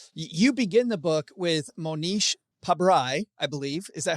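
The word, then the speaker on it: Mohnish Pabrai: You begin the book with Monish Pabry, I believe. Is that how you say it? Beautifully pronounced, Joe.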